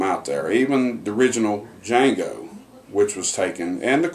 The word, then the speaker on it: Django: Django tells him and he tells them the D is silent and the gangster looks